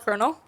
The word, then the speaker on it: colonel: It's called Colonel.